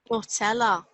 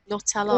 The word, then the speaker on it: Nutella: Nutella. How do you say it? I was doing it Manchester. Nutella.